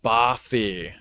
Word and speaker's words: bothy: Okay, so I was pronouncing it wrong. Bothy.